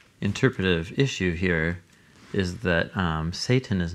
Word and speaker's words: satan: So there's a story in 1 Kings 11 where God raises up Satans against Solomon when he starts being unfaithful. The way that you're pronouncing that, it's throwing me off.